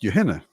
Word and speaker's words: Johanna: And in Danish, her name was pronounced Johanna. Like a Y at the beginning and then a very sort of shortened, softened Hannah. Johanna.